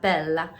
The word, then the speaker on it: bella: bella it's la la bella so when there are two consonants in an italian word you sort of stop on them so hopefully i said